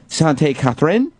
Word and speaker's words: Sainte-Catherine: Catherine or is there a French way to pronounce that? Sainte-Catherine there's a uh...